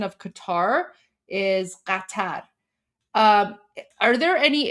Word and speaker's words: Qatar: Um I think I think the pronunciation is the same right because um no it's not cutter it's you you guys just don't have that sound in English that's why people say like Qatar it's it's definitely